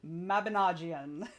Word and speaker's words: Mabinogion: Okay, so Heather's teaching me how to pronounce this word. Mabinogion. Mabinogion.